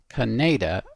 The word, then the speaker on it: Khanada: the song history so this song according to the wiki is pronounced Canada and that's because it